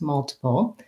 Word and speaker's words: multiple: lot of requests so the word multiple has first syllable stress multiple um and in this word i think because of the blend the lte blend i do say that t as a release sound tipple uh the first vowel